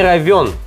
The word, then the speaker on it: ровён: старо славянское слово и правильно говорить вот так вот под деревенский не ровен час и здесь пишется не е.а. ё и именно поэтому ударение ставится всегда на буквы ем поэтому не ровён час слушать его для